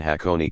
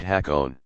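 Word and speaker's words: Hakone: dropped this reform though many Americans go on calling the cities of Kyoto and hakon Kyoto and hack own you should see the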